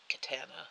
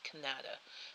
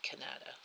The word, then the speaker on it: Kanata: of Ottawa yeah I I get called Jen in katana all the time that's Kannada kind of like Canada but Kannada it just phonetic the way